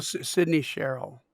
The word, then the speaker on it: Sydney Sherrill: Sydney Sherrill. Sydney Sherrill. Oops. Sydney. So it's spelled like Sydney, Australia. Uh huh. Cheryl, Sherrill.